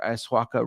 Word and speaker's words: ayahuasca: It's not been confirmed, but I think he's on another ayahuasca retreat.